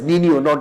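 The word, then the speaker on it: Niño: El Nino it is Nino Nino. It is pronunciation is Nino.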